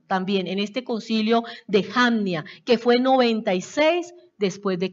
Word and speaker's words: Jamnia: Confirmaron en ese concilio de Jamnia, o de Jamnia, así se pronuncia, Jamnia.